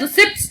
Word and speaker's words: receipts: liabilities next is receipts we don't call it as receipts it is receipts p is silent every receiving or accrual